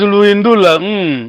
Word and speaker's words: Luindula: Bom, pronunciamos Luindula. Ok. Basicamente seria como aqui, tá vendo? Essa pergunta, tá vendo? O acento.